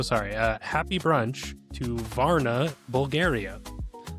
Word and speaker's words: Varna: Uh, happy brunch to Varna Bulgaria. Happy brunch, Varna. Rhymes with Clara.